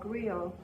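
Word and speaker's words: griot: poet what you did is called Grill even though it's spelled g-r-i-o-t and the grill you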